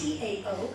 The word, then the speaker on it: Tao: They actually say Tao. Tao. It's T-A-O, but they pronounce it as Tao.